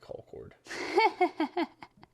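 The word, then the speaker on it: Concord: why i call it call cord there's a little town here south of us called call cord it's spelled exactly the same but you have to put a hick accent on it apparently anyways we didn't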